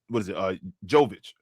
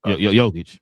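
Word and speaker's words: Jokić: The person that shouldn't make the first All-NBA first team is Jovic or Jovic. What is it? Jokic. Jokic.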